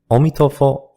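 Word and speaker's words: 阿弥陀佛: Ami Tofo, the Chinese pronunciation of Amitabha Buddha has become a common expression among Buddhists and non-Buddhists alike. Sometimes it is used as a greeting. Omitofo.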